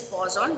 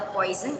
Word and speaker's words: Poisson: Remember, the pronunciation is Poisson, not the poison.